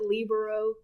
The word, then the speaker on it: libero: wing Spiker the middle block blocker and the labero I think that's what it is but that's how Professor Cooper pronounced it so that's how they pronounce it they pronounce it libero in the show at least in the English